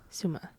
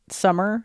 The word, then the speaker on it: Sumer: Suma. Yeah. Most people pronounce it summer. It's not. That's not how you pronounce it. That's what I thought it was pronounced as, but it's suma.